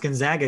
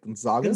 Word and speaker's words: Gonzaga: one seated teams gonzaga which i know is pronounced gonzaga because i heard somebody say that that way